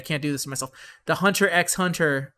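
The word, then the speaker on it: Hunter × Hunter: the hunter x hunter always pronounced the x uh the hunter x hunter and yu hakusho co-lab i'm not gonna let them turn me into one of them said i'm going to always pronounce the x i don't give a what they say where they say it's just better to say hunter hunter you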